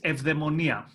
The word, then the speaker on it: eudaimonia: do you pronounce it I say you diamond ear now Oh in Greek it's of them Anya okay interesting now looking